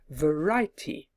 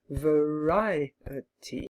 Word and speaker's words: variety: word for example variety many of my students would try to say it as a three- syllable word variety I tell them that there are four and ask them to try and stretch the word until they can find four syllables usually someone finds it